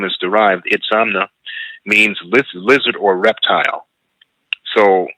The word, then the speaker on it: Itzamna: And those people were said to have come from the east across the sea, led by their leader, Itzamna. Itzamna is spelled I-T-Z-A-M-N-A.